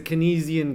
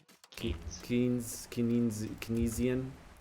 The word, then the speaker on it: Keynesian: It's a Kinesisian game. A chatter said that the other day. It's so true. Kinesisian economics game. Oh, key. Like the key. Yeah. Keynesian.